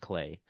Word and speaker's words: Klai: And um yeah, Clay I think was a um one person they recognized the word knowing that um I don't remember if they had had some background knowledge or if they kind of recognized this as this looks like the word clay but spelled a little differently. So I I think it's pronounced clay.